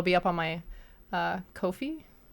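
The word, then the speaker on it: Ko-fi: up on my uh Kofi I think it's pronounced coffee yeah Kofi um so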